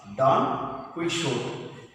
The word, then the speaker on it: Don Quixote: How to pronounce? Don Quixote.